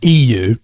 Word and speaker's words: Yiwu: So the EU, which is spelled YIWU, which is where our office is in China.